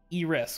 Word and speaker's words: Eris: I have Pluto, Saturn, and Eris, which I'm sure is not the way that word is pronounced. Eris. Eris? Is it really? Yeah, it's Eris.